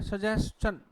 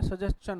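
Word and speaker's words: suggestion: और क्या लिखा है, सजेशन, स, च और क्या होगा भाई, न। तो इसका उच्चारण हम लोग अक्सर गलत बोलते हैं, तो ये क्वेश्चन होता है, क्या होता है, सजेशन होता है।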